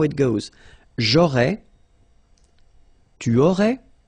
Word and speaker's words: aurais: J'aurais, so final S, not pronounced.